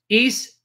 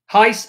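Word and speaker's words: εἷς: In Greek, the Lord is one is Kyrios Eis Estin. Now, the way they pronounce it in the seminaries is Kyrios Heis Estin.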